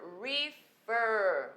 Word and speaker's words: refer: refer o verbo refer refer você percebe aí que a sílaba tônica é na última aqui se a ca